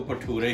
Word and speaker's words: भटूरे: तो लेकिन असल क्योंकि हम लोग पंजाब से हैं तो हम इसको भटूरे ही कहेंगे। असल प्रोनाउंसिएशन हमने इसकी यही सुनी है, लेकिन आप इसको जो चाहें कह सकते हैं।